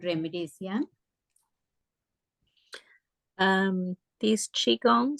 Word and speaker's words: Qigong: as Qigong right not Qui-Gon yes yes so yes they're called uh Qigong but they can be pronounced key it depends on the language in Chinese it's Chi in Japanese it's key so that is all